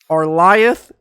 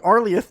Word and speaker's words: Arlieth: 20 years but but we have to agree right our you know like arleth does sound a little better right than arliah you don't think so i